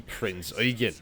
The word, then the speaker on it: Prinz Eugen: welcome aboard the mighty Prinz Eugen, premium tier 8 German heavy cruiser, and yes, that is how you say it. If I hear one more Eugen...